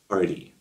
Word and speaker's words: Paaarty: Arty. Spelled with three A's.